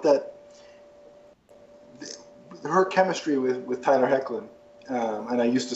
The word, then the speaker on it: Hoechlin: And I just felt that her chemistry with Tyler Hoechlin, and I used to say his name wrong, so I finally got it right.